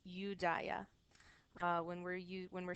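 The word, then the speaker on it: Iudaea: fall of rome so when we're speaking in latin we pronounce this udaya when we're you when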